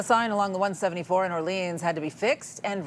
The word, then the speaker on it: Orléans: Orléans is spelled with an accent. It's a proper noun. It's Orléans. It's got an accent aigu on the E.